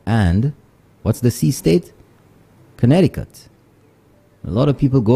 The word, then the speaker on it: Connecticut: what's the sea State Connecticut a lot of people go over there and they say connect ticket connect tiut but the tea in the middle is silent for those people so they say Connecticut so the moment